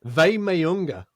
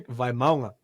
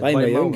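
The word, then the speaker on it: Vaimauga: of iteration of it, because it's Dimitri Vaymaunga is the... well, I don't know if that's 100%, but that's a lot closer than Vaymayunga. Yeah, Vaymaunga.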